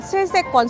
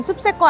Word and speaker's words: 슬세권: 돌색 권에 실색 권이에요 발음 잘하셔야 돼요 슬세권 숲세권 아니고 슬리퍼 신고 편의 시설를